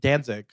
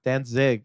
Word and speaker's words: Danzig: See, that's how I feel about like the Danzig. Danzig? Danzig.